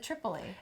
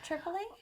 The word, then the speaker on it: Tripoli: It's Tripoli, but I was calling it Tripoli. I thought it was because I pronounce it Tripoli. And that's how it's supposed to be pronounced.